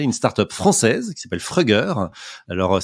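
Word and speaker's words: Fruggr: Et justement hier, dans notre catégorie décarbonée par le digital, on a récompensé une start-up française qui s'appelle Frugger. Alors ça s'écrit F-R-U-G-G-R, mais ça se prononce Frugger, je leur ai demandé.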